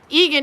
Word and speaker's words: Eagan: from eagan minnesota see i know how to pronounce that guess why i'm from minnesota 70 is fair yet okay fahrenheit so eagan yeah eagan in minneapolis area is about similar